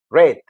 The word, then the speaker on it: read: Lo vas a pronunciar como si fuera el color rojo, red.